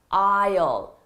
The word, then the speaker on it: aisle: It's pronounced aisle, okay?